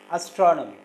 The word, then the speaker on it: astronomy: Astronomy. Astronomy. Astronomy. And here the second syllable is stressed.